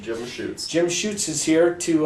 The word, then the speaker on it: Jim Schutz: Is that the correct pronunciation? That's correct, Jim Schutz.